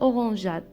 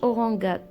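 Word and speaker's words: orangeade: بحال مثلا أورانجاد، إلا لاحظتو ما تنطقاتش أورانغاد، تنطقات أورانجاد حيت درنا E ورا G.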